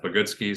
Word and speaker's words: Bogoodski: the website is called bogutski which is actually a take on my last name the way it's spelled people kind of struggle to um to interpret it so phonetically it's pronounced but goodski so I've sort of